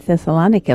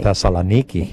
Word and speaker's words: Thessaloniki: Like Thessalonica. Or not Thessalonica like we No, say. Thessaloniki. Yeah, Niki. Yeah, Thessaloniki.